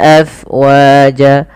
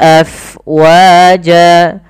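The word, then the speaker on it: أَفْوَاجًا: syiddah Fata a fatauna afwaja Kemudian pada lafal Fa alirkan nafasnya karena Fa itu harus ada angin yang kita lukarkan karena dia sifatnya hams mengalirnya nafas AF AF AF afwaj lafal Jan madwat kembali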